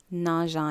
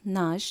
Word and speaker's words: nagent: grenouilles nagent dans l'eau. 8 grenouilles nagent dans l'eau. இதிலும் அந்த ENT சைலண்டாக தான் இருக்கும். nage. nageant இல்லை, nage. 9 poissons nagent dans l'eau. 9 poissons nagent dans l'eau.